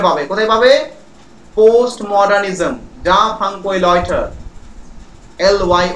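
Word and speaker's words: Jean-François Lyotard: যা ফ্রাঙ্কোই লয়টার, এল ওয়াই ও টি এ আর ডি.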